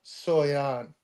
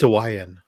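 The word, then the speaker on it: Suayan: It's Sawayan. Sawayan. If you I'm sorry. if you want to know how to, Sawayan. I heard him pronounce it at Fan Expo. It's like Hawaiian, but Sawayan.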